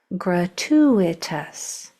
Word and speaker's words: gratuitous: Next part, next syllable, two, like the number. Gratu, and I'm saying this syllable stronger. Gratu, it's accented.